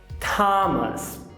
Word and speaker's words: Thomas: O que não te disseram é que nem todo TH se pronuncia daquele jeitinho com a língua entre os dentes. Olha só. Thomas, Thames, discotheque, Thailand. Você viu algum aí?